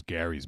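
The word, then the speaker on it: Garry's: But apparently the Michael Jackson one is Gary's Mod. Yeah. Oh, okay. I think pronounced it Jerry's wrong then.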